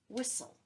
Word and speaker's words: whistle: whistle for his dog the T is silent whistle here's another word that